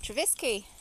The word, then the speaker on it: Trevisky: So now we're going through somewhere called Trevisky. Rhymes with Pisky.